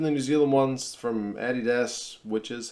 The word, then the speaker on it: Adidas: Some of them, even the New Zealand ones from Adidas, which is how we pronounce that, they're okay, but especially like the